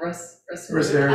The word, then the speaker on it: resveratrol: Resveratrol, how do you pronounce that? Resveratrol.